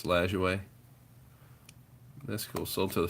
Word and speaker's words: Lajoie: I was saying his name wrong for for most of my life, and then I was watching Ken Burns baseball, and that's how they said it. So I'm gonna assume it's Lajoie.